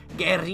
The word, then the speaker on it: guerrilla: yeah it's Gary yeah I need to pronounce it properly which I believe you pronounce it Gary yeah warfare we can